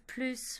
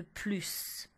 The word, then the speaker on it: plus: Ensuite, avec les noms, il faut utiliser plus de et bien prononcer le S de plus.